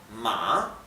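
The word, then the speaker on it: 马: Este tono, con esta marquita arriba, significa que la pronunciación baja y sube. Y esto se pronuncia ma, bien, la A baja y sube la pronunciación.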